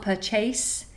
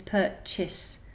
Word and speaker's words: purchase: you pronounce purchase purchase imagine it's an S at the end rather than ace so it's not purchase its purchase okay Maru Lu Marilu